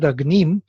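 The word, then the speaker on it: अग्निम्: I have one word Agnim, so to mark it I have to put the preceding syllable little lower, and that is Anudatta. Agnim. Yes, in order for me to make a second syllable stand out, I have to put the first one down.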